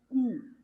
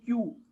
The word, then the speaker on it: cu: Then Q is pronounced as Ku. I am not saying Q. I am saying Ku. C plus U is pronounced as Ku.